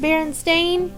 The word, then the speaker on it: Berenstain: Bears books but did you know it's actually pronounced Berenstain but I prefer Berenstein I don't think they'll mind thanks for watching